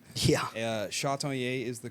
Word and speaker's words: Chatagnier: name it is a tricky last name yeah shaton is the correct pronunciation but uh I say chat to those who are not super Cajun French